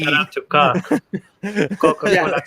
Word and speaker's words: Coke: Shout out to Coke. Yeah, Justin's been pronouncing Coke like cock for 20 minutes.